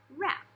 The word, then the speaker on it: wrap: a noise okay and they give the example of wrap like wrapping paper has a W in an R but it just sounds like rough wrap or knit like I